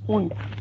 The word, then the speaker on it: und: English is English pronunciation and English is Deutsch German pronunciation. English und Deutsch is not and, it's und.